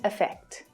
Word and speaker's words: affect: Effect и affect. В обоих словах ударение делается на второй слог, поэтому безударный слог в начале каждого слова, звучит довольно похоже, даже учитывая то, что там разные гласные буквы.